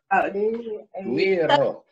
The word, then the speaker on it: güiro: Güiro. That comes from Latin America, but you pronounce it, you'd say Güiro.